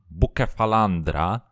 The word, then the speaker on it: Bucephalandra: look and talk about the buca phalandra because this is the right way to pronounce the name of the plants and we will see